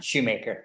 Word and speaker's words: Shoemaker: Am I pronouncing it right? Is it Shoemaker or Shoemaker? Shoemaker.